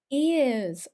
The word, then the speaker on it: ears: and also um teachers my ears are blocked sounds like a ears and he's five years old years this one doesn't have that Y sound so it's not